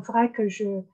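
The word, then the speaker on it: Wrac'h: Donc, très vite, je me suis rendu compte que j'avais en fait séparé mon compte, alors énergie en vrac, puisque alors vrac, ça s'écrit comme Abervrac ici, c'est pas, c'est C'est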